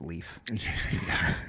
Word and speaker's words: Leif: I believe it's pronounced Leaf.